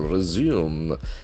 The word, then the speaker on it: resume: Resume, the accent falls on second syllable. Resume will act as a verb which continue after a small pause.